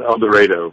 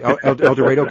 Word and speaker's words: El Dorado: Oh by the way the local called El Dredo FYI. Oh okay El Dredo Kansas.